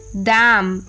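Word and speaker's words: damn: silent letter N एंड the rule is एन is often silent when following M एट द एंड ऑफ a word last में जब एम आता है तब N silent होता है जैसे ऑटम एच वाई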